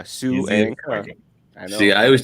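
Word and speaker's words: Suangka: Suanka, just like it's spelled. S-U is Sue, A-N-G is Ang, and K-A is Ka. Suanka.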